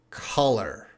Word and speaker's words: color: guys are so guys repeat after me this is a caller caller caller and this is black color color color color black color